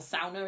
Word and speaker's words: sauna: has lots of sauna or SAA as they call it yeah um as the proper way to say it and so SAA culture